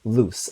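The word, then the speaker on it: Luz: Okay, but back to Loose and Willow. Uh her name is pronounced uh like Loose. Ah, like Loose Noetta from the Owl House.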